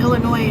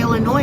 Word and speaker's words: Illinois: Aon Day South in ill s in Illinois is silent yes I can say Illinois or Illinois either one I'm from